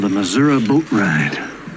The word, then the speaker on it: Missouri: You know, if you look at the way the word the word is spelled, it's it ends in an I. So, I'm from Missouri, but that's how we say it.